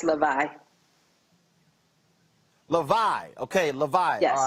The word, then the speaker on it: Lavii: Okay, did I pronounce that correct? Is it Lavii Lockers? No, it's Lavii.